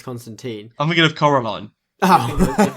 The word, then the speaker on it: Constantine: It's spelt Constantine, but it's Constantine.